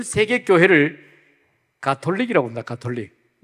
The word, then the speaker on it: 가톨릭: 세계 교회를 가톨릭이라고 합니다 가톨릭 가톨릭 혼은 우리가 카톨릭이라고 발음을 하는데이 가톨릭이라고 하는 그 말뜻